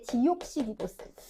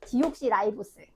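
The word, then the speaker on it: deoxyribose: 여기 책에는 이제 디옥시리보스. 근데 이게 용어가, 이게 영어를 I 발음을 다 지금 I 발음을 바꾸는 작용을 해서 H인자. 디옥시라이보스. 디옥시리보스. 디옥시라이보스.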